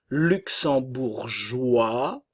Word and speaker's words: luxembourgeois: u le ou espagnol luxembourgeois le S ne se prononce pas nous avons le son